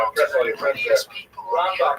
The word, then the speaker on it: Rambam: Rambam is pronounced with the emphasis on the first syllable, Rambam, and Ramban is pronounced with the emphasis on the second syllable.